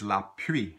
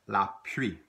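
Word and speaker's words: la pluie: noun for rain is Lappe try it la pre if you see it written they're gonna have an L in and we don't pronounce the L typically Louisiana French and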